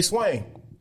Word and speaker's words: Swain: is my name that is right so say swain so you saw george floyd you see what's